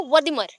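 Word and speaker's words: Wertheimer: और एक है, शॉर्टकट याद रखना, वर्दीमियर, वर्दीमियर, ठीक है, और बोल सकते हो वर्दिमर, एक साथ बोलो पहले, वर्दिमर, फिर स्पेलिंग देख लेना वर्दिमर का, WERTHEIRMER है, वर्दिमर, ठीक है।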